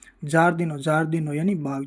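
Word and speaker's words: giardino: और अब जब उच्चारण जे हो गया और आई साइलेंट हो गया तो आई तो पढ़ेंगे नहीं। आ पढ़ेंगे तो ज अ यह हो जाएगा ज आई ए ज वैसे ही जी आई ई जे जी आई ओ जो और जी आई यू जु होता है इसके उदाहरण देखते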